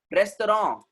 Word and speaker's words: restaurant: उसको restaurant बोलना है हम लोगों को, restaurants नहीं बोलेंगे. It is what? Restaurant, not restaurants. Why? Because it's a French origin word.